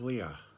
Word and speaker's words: Liath: and the word for gray in Gaelic is Leah. It is spelled Liath, and you have to listen. You have to listen. It's not Leah.